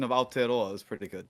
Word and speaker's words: Aotearoa: pronunciation of Aotearoa is pretty good. Aotearoa.